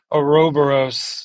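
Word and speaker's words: ouroboros: And it is there there is this uh a robberos that's how you pronounce it you know snake eating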